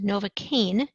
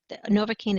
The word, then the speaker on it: Novocaine: If you hear it's pronounced Novocaine, it might sound like it ends in A-N-E, which would indicate alkane.